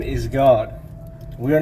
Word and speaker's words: Gad: up next to it, G-A-D, God. The same way it's pronounced in Enoch, with that little vowel point above the A.